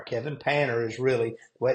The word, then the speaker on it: Panter: painter insurance and that's p n t Kevin Panner is really what it's pronounce but we say painter but you know you can go to my